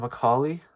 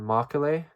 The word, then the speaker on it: Macaulay: Is it Lord Macaulay or Lord Molay? Macaulay. I think it's Macaulay.